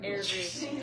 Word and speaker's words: Airdrie: Airdrie. Air, like the air.